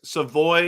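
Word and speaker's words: Savoie: Oh, and Chris, Savoy is the pronunciation.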